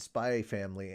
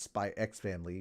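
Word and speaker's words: Spy × Family: the Steins Gate and spy family anime that's right I say spy family not spy X family when you say it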